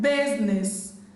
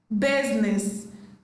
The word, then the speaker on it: business: Letter I is silent in the word business, business.